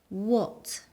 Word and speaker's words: what: What? It sounds a bit like an O. What?